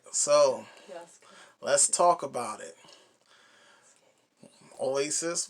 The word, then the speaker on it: Yasuke: I think that's how it's pronounced. Right. So Yasuke.